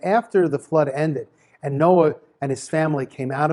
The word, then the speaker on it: Noach: the portion of Noah it's also known as Noah that's the correct way to pronounce his name so everybody seems to know